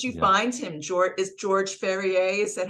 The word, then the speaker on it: Ferrier: George Ferrier? Is that how you say his name? Yeah, George Ferrier, like a horse farrier, Oh, so I'm yeah.